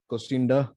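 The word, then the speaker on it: Kocienda: the author's name is ken kosciumida costinda that is how it's pronounced i don't know if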